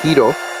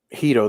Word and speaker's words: gyros: the community pronounces it Hito, because most of the community, and particularly the huge community that is the audience or the crowd of Santa's Enchanted Forest, they basically they pronounce it Hito.